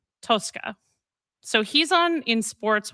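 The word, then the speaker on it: Tosca: Is it Tosska or is it Tusca? It's Tka. I think so. In Italian. Tosska is more Italian, but we everyone says Tusca in Okay.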